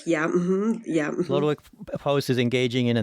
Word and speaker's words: Lodowick: And so from what I gleaned, so Post, and how do you pronounce his? From the spelling, it looks like Lodowick. Lodowick, yeah, Lodowick Post is engaging in a nice fox hunt,